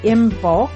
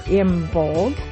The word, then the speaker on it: Imbolc: and that would be imbulk or imbold depending on your preferred pronunciation.